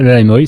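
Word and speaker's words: Lai Muoi: C'est le Laimoy, c'est moi qui entraîne le Laimoy.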